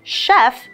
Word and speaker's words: chef: teeth so chair the second sentence is this Chef is from France we see the CH letter